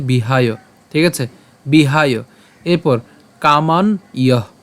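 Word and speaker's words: কামান্: থেকে খেয়াল করি উচ্চারণটা কেমন হচ্ছে বিহায় ঠিক আছে বিহায় এরপর কামান ইয় এখানে কামান কেন উচ্চারণ করলাম এখানে হস চিহ্ন আছে আর হস চিহ্ন আছে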